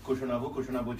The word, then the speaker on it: Kushanava: So first, I'm very happy to say hello to Kushanava Choudhury, whose name rhymes with mine. Because my name is Arunava in Bangla.